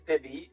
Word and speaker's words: Vivy: write and ask you know how do you pronounce Vivy and so uh to me it's Vivy and but there are you know lots of